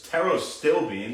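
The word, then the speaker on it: pterostilbene: So rveratrol especially uh something they call the big brother to rveratrol is actually called teros teros stillbean excuse me uh spelled with a silent paterero still bean uh phonetically and and it's something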